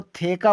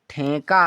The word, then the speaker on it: ठेका: तो थेका उच्चारण सही है, गलत है। सही उच्चारण ठेका है।